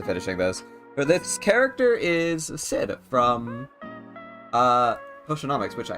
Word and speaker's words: Xid: I did s it's Sid pronounced Sid but it's spelled xid Cal going to cry